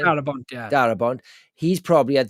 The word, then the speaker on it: Darabont: How do you pronounce his Frank name? Darabont, yeah.